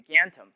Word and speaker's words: Gantom: rebrand the company into G anthem which is a combination of my last name but also rhymes with phantom to retain our Halloween